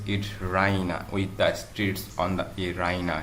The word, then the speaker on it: Raina: She pronounces it Rhina with the streets on the she goes to the bed expecting to find Rina there.